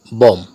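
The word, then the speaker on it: bomb: বম, এখানে এম বি যুক্ত থাকার কারণে বি লেটারটি সাইলেন্ট রয়েছে।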